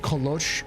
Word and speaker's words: kolache: But it's called kolosh. It's like the way it's spelled is kolosh, and kolosh is the Czech version of it, and it's actually the